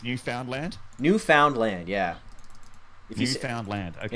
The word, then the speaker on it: Newfoundland: So it's not Newfoundland. It's Newfoundland. Newfoundland, yeah. If Newfoundland. Okay. Yeah, it's like if to noof was a verb.